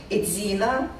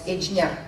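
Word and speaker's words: Ejina: Alashan Prefecture contains 3 subdivisions, smaller administrative districts of banners: Edzina, or how local pronounce Ejnya, Banner, right, Barun Banner, and left, Zun Banner.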